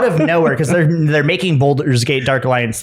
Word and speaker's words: Baldur's: But yeah, they just randomly released it, and I'm just gonna keep saying Boulders. It's Baldur's Gate. It's not a bald spot, it's a bold spot.